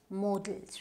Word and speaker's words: modals: So we pronounce it as modals, right?